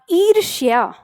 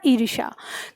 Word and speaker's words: ईर्ष्या: शब्द क्या कर दिया, ईर्ष्या। दोनों के उच्चारण में अंतर है, वो है ईर्ष्या, या का उच्चारण उसमें आता है, लेकिन वहां पे हमने या का उच्चारण गायब कर दिया, ईर्ष्या कर दिया।